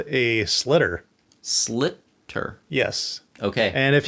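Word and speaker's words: sliotar: So this is called a slitter.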